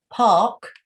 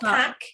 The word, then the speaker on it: park: Park. You don't pronounce the R. You just say park. It's not pack, it's park.